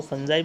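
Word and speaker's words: fungi: देखो इसकी अलग अलग प्रोनाउंस हैं, कुछ इसको फंगी बोलते हैं, कुछ इसको फंजाई बोलते हैं, तो आप दोनों में से कुछ भी बोल सकते हो।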